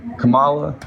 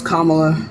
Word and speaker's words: Kamala: but the fact that what do you call her Camala is that what you call her no it's Kamala name excuse me see